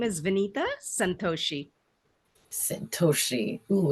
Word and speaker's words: Vineeta: say it for us yes my name is Venita Santos Sosi oh it's powerful I love it